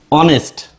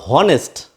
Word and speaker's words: honest: of a word and the pronunciation of H is silent then you will use em for example honest sorry honest our in